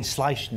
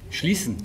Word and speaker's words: Schließen: I kept slipping up a little bit, saying Schleichen, wasn't it? And it's Schleichen. Schleichen. Schleichen. Schließen. Schließen. Schließen. This is what it was like on the day. Rhymes with Riesen.